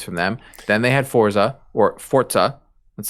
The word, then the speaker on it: Forza: about it xbox and how to say it so it's forza yeah um and then